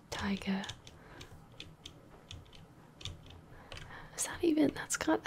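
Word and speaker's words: taiga: venture into the T tiger is that even that's got I'm pretty sure that's how you say it t a i g a ven into that a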